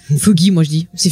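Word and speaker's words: Fuches: Donc on parlait tout à l'heure justement de Fuggy, je sais pas comment on prononce ça, qui est joué par Stephen Root, qu'on a vu dans pas mal de comédies aussi, dans Dodgeball. Ah c'est Fuchs. Fuchs, voilà, merci.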